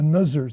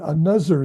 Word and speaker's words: another: You said a nuzzer thing. A nuzzer. You have to. And that's one of the hardest things for Arabic speakers is the the think this that tend to be zinc that and you said another thing.